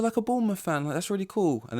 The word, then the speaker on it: Bournemouth: involved I'm like what it's literally born with they're like no it's Bournemouth I guess if you're